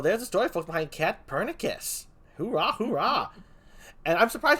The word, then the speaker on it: Katpurnicus: a bit long and sometimes people think the c is pronounced so they're like pat cat pernici sus or you know like